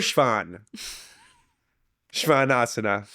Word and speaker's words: shvanasana: mhm so that s think of it as like sh soan Shan this isn't something we say in English we never Shan shanas that's this this is